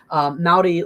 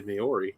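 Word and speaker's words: Māori: Polynesian languages, if you know things about them, you pronounce, and Maori as well, you pronounce every syllable.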